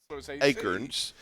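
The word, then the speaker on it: Akern: It's with an E. It's A-K-E-R-N. Acorns. And if they would spell it correctly, they could pronounce it correctly.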